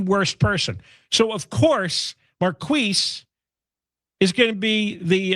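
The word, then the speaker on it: Marqueece: city council president Marquis is that you say his name Marquis. That's correct. Oh, it is Marquis. Marquis. Oh, I was making fun of it. I thought it was Maris.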